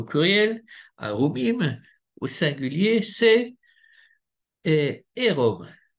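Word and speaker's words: ערום: Et le mot nu, c'est au pluriel, arumim, au singulier, c'est érom. Et ça s'écrit exactement de la même manière que aoum. Oui, c'est juste la vocalisation qui est différente.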